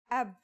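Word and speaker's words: أب: It's pronounced ab. This is the word for father in Arabic.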